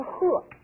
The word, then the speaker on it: 喝: 先看当头棒喝，注意这个字的读音啊，多音字，这里边读的是喝。